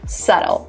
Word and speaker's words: subtle: It is written with a B, so make sure that when you're writing, you actually spell it in the right way, but the way you pronounce it is subtle.